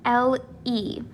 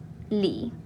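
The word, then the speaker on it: lee: so this is correct it is pronounced le not li all right but i'm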